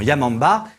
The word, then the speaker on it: Yamamba: À cette époque, le nom de Yamaouba, qui signifie la vieille de la montagne, et se prononce également Yamamba, était synonyme de terreur.